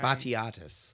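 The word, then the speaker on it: Batiatus: He's uh and I wish you were the person looking at this cuz the Greek name pronounce it. Betus B A T I Biatus.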